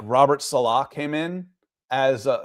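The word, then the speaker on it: Saleh: Um, I wouldn't mind if like Robert Salah came in as uh it's actually Robert, someone asked this is how do you pronounce his name? Pro football reference says Salah.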